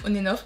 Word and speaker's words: ONF: ONF ou onen onenof comment on prononce je crois qu' on prononce onenof alors je sais pas